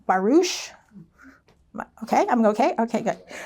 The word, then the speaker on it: barouche: It's a French pronunciation, I think, barouche.